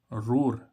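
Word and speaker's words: roar: ओ होता है जैसे आर ओ ए आर रोर रोर रोर means गर्जन देखो यहां पर ओ ही आ रहा है और इसके बाद क्या आ रहा है आर तो तब भी इसका उच्चारण क्या आ रहा है ओ यानी कि रोर रोर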